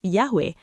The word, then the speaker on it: Yahweh: the Christian Church testify that the name was pronounced Yahweh.